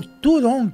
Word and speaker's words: Zhurong: hoje o rover chinês Zhurong, ou Turong, que é o jeito da pronúncia certa, sim, está atuando, tá?